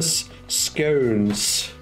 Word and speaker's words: scone: I pronounce it like stone, scone. Yeah, scone. Yeah, like me, scone. Scone and stone spelt the same, sound different. Placing one letter, definitely one.